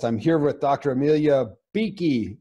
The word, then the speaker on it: Bueche: here with dr amelia beaky she pronounces it beaky but it's b-u-e-c-h-e-d-o an